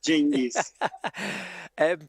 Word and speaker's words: Cengiz: Cengiz, am I pronouncing that name right? Yes, Cengiz.